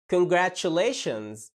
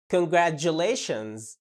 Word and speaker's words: congratulations: يبقى نطق الكلمة congratulations. في نطق تاني للكلمة دي وبقى أكثر شيوعا الأيام دي. اللي بيحصل في المقطع الثالث بتشيل صوت التش وتحط ج. دي جيم كده مضغومين في بعض ج، فتبقى congratulations.